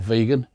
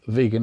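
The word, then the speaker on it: Vigan: It's a place called Vegan in Ilocos Sur. Vegan pronounced vegan.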